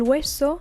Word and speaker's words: hueso: El hueso, los huesos. Again, H is silent, it's the bone or the bones.